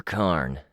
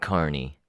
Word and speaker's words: Carn: Or Carn, the guy with the toothy bandana said. not Carney.